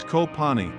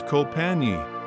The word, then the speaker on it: Koh Panyee: with an Indonesian field The Village name is copani pronounced in Thailand or known as copi this is a fishing Village in fangna Province